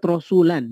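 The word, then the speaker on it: رسولا: kalau dalam keadaan diwakaf, maka dibacanya menjadi ata'na rasula, dipanjangkan. Ini menunjukkan bahwa alif di situ, la di situ hanya terbaca dalam keadaan wakaf. Ketika diwasolkan maka dia menjadi hilang.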